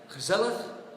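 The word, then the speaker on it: gezellig: way for canadians to pronounce it with pleasure gazelleth that's how we pronounce it means something like cozy it's a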